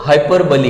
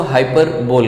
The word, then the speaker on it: hyperbole: इसको हम लोग हाइपरबोली कहते हैं, बहुत सारे लोग इसको हाइपरबोल कहते हैं, समझ में आ गया। लेकिन इसका जो सही प्रोनाउंसिएशन है वो है हाइपरबोली।